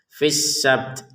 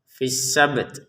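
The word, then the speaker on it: في السبت: Ada di sini qalqalahnya ba atau pantulannya ba sabt. Kemudian di terakhirnya ada ta sehingga tanya-nya ini juga memiliki hak untuk diucapkan. Ada letupan nafas sedikit. Fissabd. Nah, seperti itu. Fisabd. Fisabt. Nah, asalnya kan fisab sab. Kemudian ada ta fisabt. Fisabd. Nah, seperti itu ya. Jadi dua-duanya di diucapkan.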